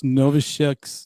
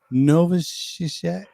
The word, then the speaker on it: Novoselic: Chris Novoselic. Go ahead. You know, I don't know if it's a hard C at the end or not.